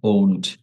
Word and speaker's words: won't: Will নটের short form আমরা বলবো ওন্ট। এটা একটু উচ্চারণ শিখে নেই।